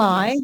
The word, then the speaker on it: allies: The stress is on the first syllable. Allies.